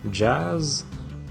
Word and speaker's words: jazz: chez n'y répondez appelé mais il ya des exceptions gaz jazz coiffe prononcé comme est